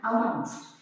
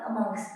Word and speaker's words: amongst: तो आज का टॉपिक है difference between अमंग एंड अमंगस्ट। आज है हम देखेंगे कहाँ पर हमने अमंग का यूज करना है और कहाँ पर अमंगस्ट का। सबसे पहले तो इसकी प्रोनाउंसिएशन देखिए, इसकी प्रोनाउंसिएशन है अमंगस्ट।